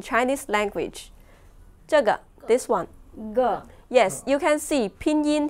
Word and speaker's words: 个: Yes, and when we pronounce it, measuring word 个, we should pronounce light and short as a neutral tone.